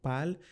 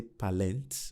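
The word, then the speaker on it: parlent: thing for they plural even though it in ENT don't pronounce the ENT at all okay and your brain just feel as if it's silent okay so when you're reading this don't say palent or no is okay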